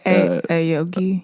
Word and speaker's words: Aoki: Them not the ones that Steve how do you pronounce his last name? Oh, Aoki. Yeah, Aoki.